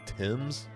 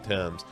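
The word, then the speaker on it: Thames: Finney, a kid named Mason Timms, I think is how you would pronounce that, like the river, that's how it's spelled.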